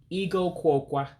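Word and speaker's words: igụ akwụkwọ: Now, if you notice something, I'm dropping the A in Ah-Kwoe-Kwau because you have two words that come together.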